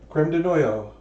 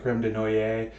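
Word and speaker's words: crème de noyaux: um so over says according to Mickey it's pronounced noyo okay creme de noyo and that that makes sense I I think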